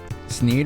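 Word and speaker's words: Sneed: Sneeed rhymes with feed and seed.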